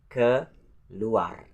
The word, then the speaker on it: keluar: And the next number 9 is the word keluar. Keluar. So the first syllable is the word ke, and the next syllable is luar. Keluar. So that's not luar, but luar. Luar.